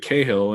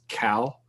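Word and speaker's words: Cahill: a k or well so I've always pronounced it kahill and everyone I know pronounces it that way but then like when I I went to school in Upstate New York and apparently in that region that name is pronounced Cal that's unusual um I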